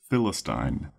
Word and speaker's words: Philistine: to our second word and that word is Philistine Philistine Philistine is spelled p h i l i s fyis